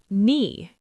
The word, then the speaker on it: knee: Knee.